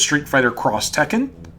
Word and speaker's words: Street Fighter X Tekken: street fighter x tekken it's street fighter cross tekken like that's how it's pronounced or you know yeah